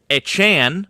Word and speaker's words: Achane: And Devon Echan, by the way, that's how he wants his last name to be pronounced.